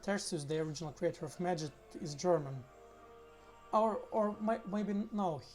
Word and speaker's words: Magit: It's like magic, but Magit. So yeah, Magit is correct pronunciation, even though, as far as I know, its creator is German.